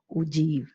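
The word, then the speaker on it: ogive: of less than type the spelling is oh give type but you have to pronounce that ugh now we will see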